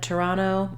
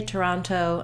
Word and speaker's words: Toronto: you might have noticed when I said Toronto I didn't say the second T sound we can also say Toronto and I'm going to